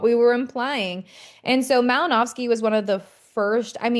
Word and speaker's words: Malinowski: So I know this is a W, but it's pronounced like a V, so Malinowski.